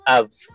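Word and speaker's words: אב: Pag may tuldok, matigas na B. Kapag walang tuldok, ah malambot na B hangin V. So hindi siya fully closed yung ating lips. Av. Hindi. Ab. Ab. Mali yung AB ah. Av. So ito ang basa dito ay av.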